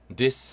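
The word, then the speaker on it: this: 입니다 들어가볼까요 리서 말 디스 어 말 이번 여름 으 4 디스 나왔네요 디스 th 발음 입니다 th 발음 이니까요 두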